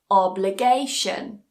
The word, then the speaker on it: obligation: long the word is obligation the stress still goes on that syllable before it that penultimate syllable obligation station so of course